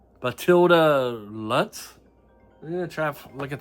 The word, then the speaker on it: Matilda Lutz: I usually don't like pronouncing names, but it's Matilda Lutz.